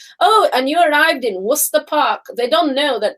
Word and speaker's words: Worcester Park: do you pronounce it worcester no it's called worcester park that's how brits say is in worcester park yeah but know what that has to do with alcoholism around london so you'd read every normal person worchester that's how they would do it but they